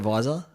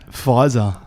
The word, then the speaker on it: Pfizer: How do you say it? Pfizer. Yeah. It's PF, not V, though.